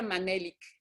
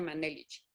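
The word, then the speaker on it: Menelik: Y se pronuncia Manelik, no se pronuncia Manelich, Manelik.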